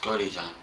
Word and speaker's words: Godejohn: and what is your last name it's gordy john and how do you spell that it's j-o-d-e-j-o-h-n okay e-j-o-h-n and you said